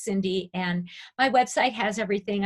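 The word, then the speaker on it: Cyndi: just look it up like it's cynthia but it's cindy and my website has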